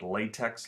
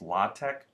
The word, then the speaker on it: LaTeX: you use the latch looks like latex like latex paint but it's pronounced latch command so it's latch